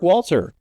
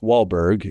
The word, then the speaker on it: Walter: the 70s to Mark Walter for an estimated $10 billion. Uh Mark Walter, not Mark Wahberg as you've mispronounced.